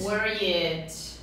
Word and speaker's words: worried: Worried. Atenção para a pronúncia. Toda vez que a gente tem um W, o som é de U.